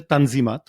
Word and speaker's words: Tanzimat: তিনি সেই রিফর্মের নাম আরবি শব্দ তানজিমাত যেটার তুর্ক উচ্চারণ হচ্ছে তানজিমাত এই তানজিমাতের জন্য তিনি